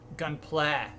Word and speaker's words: Gunpla: also for the record I learned that gun gunpla is how you pronounce it gunpla G play um